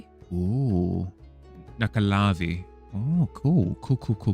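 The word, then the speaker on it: Nuckelavee: What pronounced Nakavi? Oh, Nakalavi.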